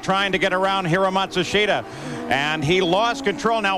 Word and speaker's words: Matsushita: you pronounce his name now they change it about every six months they say the pronunciation is now matsushita apparently not enough of